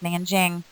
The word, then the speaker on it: Nanjing: a j' sometimes with a k' it still pronounced Nanjing so the rape of Nanjing and the comfort